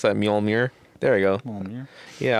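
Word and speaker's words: Mjölnir: How do you pronounce that? Mjolnir.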